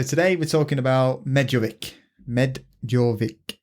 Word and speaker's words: medovik: we're talking about medovic medic it's me d o v i k but I would just call it medic but obviously there's some sort of Russian accent pronunciation twang to it so I'm going to